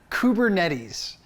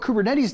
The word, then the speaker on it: Kubernetes: Kubernetes.